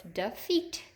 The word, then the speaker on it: defeat: say it defeat defeat our syllable break is between this E and this F so it's defeat defeat where do we hear the long e this is a short e it's not here defeat we got our EA pattern and it's accented in that second syllable so defeat would go